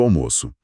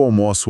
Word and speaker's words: almoço: A pegadinha do almoço. Eu almoço ao meio-dia com o O aberto. O almoço está servido com o O fechado.